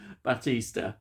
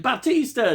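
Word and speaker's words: Bautista: can't say his name right Bas basa Batista Batista that's it Batista Dave Batista he plays Leonard now um I'm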